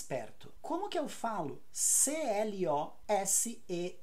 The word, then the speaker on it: close: bem não funciona agora se a palavra c o s e for o verbo fechar the opposite of Open aí eu falo com z Close então Close com s perto Close com z fechar também